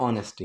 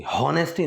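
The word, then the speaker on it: honesty: ऑनेस्टी, हॉनेस्टी नहीं, ह की आवाज़ नहीं आएगी।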